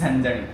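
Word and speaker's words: झणझणीत: इट्स ऐसे झंझनीत। झंझनीत? यस। इट्स झनझनीत। मतलब तीखा एकदम।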